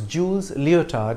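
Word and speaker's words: Jules Léotard: inventing the flying trapeze act his name is pronounced as jules leotard in english his father owned a gymnasium and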